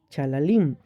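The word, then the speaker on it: חללים: Esta frase se pronuncia chalalim y también significa caer fatalmente herido, asesinar.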